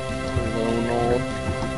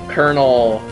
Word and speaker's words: Colonel: Maybe I should just uh And there's not a colonal like I don't like how kernel is spelled like why.